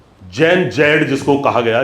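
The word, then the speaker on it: Gen Z: दूसरी बात, आप अभी चल रहे हैं नेपाल का, आपने घटनाक्रम देखा, जैन जी, जैन जैड जिसको कहा गया, जैन जैड नहीं है, जिसका प्रोनाउंसिएशन जैन जी है, यानी जनरेशन जी।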